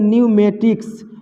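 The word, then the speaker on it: pneumatics: यहाँ भी देखिए एन से पहले पी है तो पी को नहीं पढ़ना है, इसको पढ़ेंगे न्यूमेटिक्स, न्यूमेटिक्स माने होता है वायु चालित।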